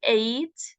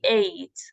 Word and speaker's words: ate: After a big meal, we ate. Please pronounce this as the number 8. Okay. In the present, we pronounce it as eat. Eat in the present, but in the past, ate. We ate some cheese and drank